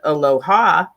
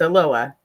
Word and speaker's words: Aloha: live in aloha which most people would think is pronounced aloha but it's not it's a loa i don't know why